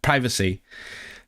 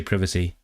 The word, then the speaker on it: privacy: I got that confused because I grew up saying um priv privacy, but that's the American one. Here we say privacy, Arian and Benant.